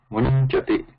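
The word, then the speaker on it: मुञ्चति: So Anuswara pronunciation goes away and only Yakara pronunciation comes in that place.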